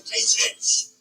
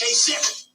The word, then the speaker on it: Kasich: Every time I see it, I say Kasich, but it's pronounced Kasich.